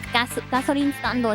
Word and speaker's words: ガソリンスタンド: Like gasoline stando is how you say it, like gas station in Japanese.